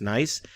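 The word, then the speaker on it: gneiss: Uh the G, you don't pronounce the the G, but it's spelled with a G, but it's pronounced nice.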